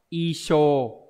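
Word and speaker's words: 衣装: khó một chút thì nó có hai cách đọc âm oomi là so và show thì đa số đọc là đọc là s Ví dụ như từ gì nhở C phục trang này trang phục này hay là trong từ trang sức so soer đấy nhưng mà trong trường hợp này đặc biệt y trang sẽ đọc là ISO như vậy đây đáp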